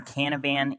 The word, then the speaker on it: Canavan: Yeah, well, my name is Canavan, or Canavan in Japan. It rhymes. It's easy to remember.